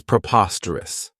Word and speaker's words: preposterous: The next word, and it's one that I really like, is preposterous. This adjective has four syllables, and the stress is on that second syllable, preposterous. Remember that OS has that schwa, that sound.